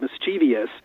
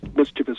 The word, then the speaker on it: mischievous: sounds like something else like Kathy said mischievious that sounds a lot like devious we know the IOUs ending devious etc we don't have as many without the eyes so we then pronounced mischievous mysterious should we take